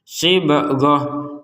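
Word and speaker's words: صبغة: tanwin ataupun fathatain dari ta ini kita bacanya dengan huruf ha. Jadi kita bacanya ha di sini. sibghah, minallahi sibghah. Nah, kenapa kita bacanya sebagai huruf H? Padahal di sini adalah ta, huruf ta harokatnya fathatain. Jawabannya karena kita berhenti. Jadi kita mengubah huruf ta ini menjadi huruf H.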